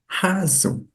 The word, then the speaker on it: hazo: Et écoute bien, hazo et azo. Il y a vraiment deux différences. Là, on prononce vraiment le H, has.